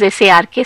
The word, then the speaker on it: src: was called as sark src but pronounced as sark sark this was first